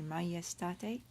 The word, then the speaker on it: majestate: We pronounce the J in Latin as a y, so it should be majestate.